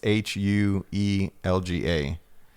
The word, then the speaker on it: Huelga: Yeah, so the H is silent, so it's Huelga.